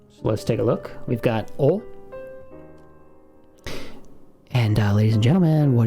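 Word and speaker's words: お: We don't, even if you really barely hear that little W from your English, try to remove that when you're pronouncing Japanese. It's just going to be pronounced O.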